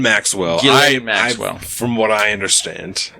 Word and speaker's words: Ghislaine: So how do you pronounce her name? Ghislaine Maxwell. Ghislaine Maxwell.